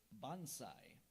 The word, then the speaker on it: bonsai: origin please is Japanese are there any alternate pronunciations there is also Bonsai have the definition it's